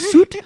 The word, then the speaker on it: soot: Soot? Soot? And your pronunciation just goes crazy.